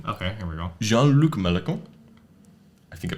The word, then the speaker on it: Mélenchon: Jean-Luc Mélenchon, I think I pronounced that correctly. Mélenchon, thank you.